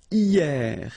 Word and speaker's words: hier: And then the first one is hier. Hier means yesterday, okay? Hier. So remember, this H here is not pronounced, okay? So, hier.